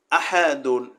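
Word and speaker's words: أَحَد: আলিফের উপরে এখানে হরকত জবর আসছে। আলিফের উপরে যখন হরকত জবর আসবে তখন আলিফ আর আলিফ থাকে না। আলিফ কি হয়ে যায়? আলিফ হামজা হয়ে যায়। তোখানে উচ্চারণটা কেমন হবে? হামজা জবর আ হা জবর হা দাল দুই পেশ দুন আহাদুন আলিফের উপরে হরকত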